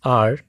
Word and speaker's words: are: There were too many flowers in our house. Remember one thing, it's pronounced R, not our.